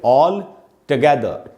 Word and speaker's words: all together: इसमें भी ये जो फ्रेज है इसमें भी इसको पढ़ेंगे ऑल टुगेदर। ट का साउंड है दोस्तों, टू का साउंड नहीं है।